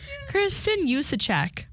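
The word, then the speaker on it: Kristin Juszczyk: Kristen Zolciak is how you say that.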